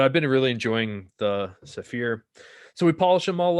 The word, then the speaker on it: Saphir: familiar with uh the saphir cordovan cream and i think i always pronounce this wrong sapphire saphir but we polish all the